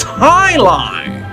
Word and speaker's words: jai alai: against the bellows bloodhounds the heck is jai alai it's pronounced Highline what the heck is Highline